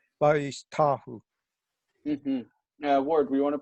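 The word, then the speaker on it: וַיִּשְׁתַּחוּ: Oh, well, I guess Vayishtachu. I had the accent on the wrong syllable. Vayishtahu.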